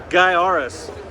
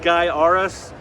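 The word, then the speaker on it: Gaiares: that's a tough one guy arus the T-shirt ad actually told taught people how to say this oddly titled game it's spelled like guy or phonetically spelled guy arus great Sid scrolling shooter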